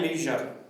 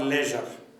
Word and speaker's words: leisure: Chapter 4, work and leisure or leisure. You can pronounce it either way.